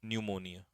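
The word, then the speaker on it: pneumonia: एक बीमारी होती है तो पी से स्टार्ट होगा प साइलेंट रहता है पी एनई यू यह जाएगा न्यूमोनिया मिसलेनियस एरर्स पढ़ते हो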